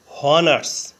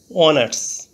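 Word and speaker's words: honours: অনেস অর্থ সম্মান এখানে ওয়ানার্স এর প্রথমে এইচ কনসোনেন্ট এইচ এর উচ্চারণ হয় বাংলা হ এর মতো প্রথমে এইচ ধরে উচ্চারণ করলে হয় হনার্স কিন্তু এইচ এর উচ্চারণ না হয়ে ভাওয়েল ও থেকে উচ্চারণ শুরু হয়েছে অনার্স এইচ এর উচ্চারণ অন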